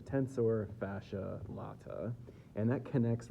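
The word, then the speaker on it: tensor fasciae latae: the tensor fascia L I've heard it pronounced a couple different ways I think probably the best way to say it is a tensor fascia lat and that connects right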